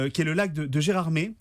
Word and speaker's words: Gérardmer: aussi pour faire autochtone il faut prononcer gérardmer non pas gérardmer je vais vous poser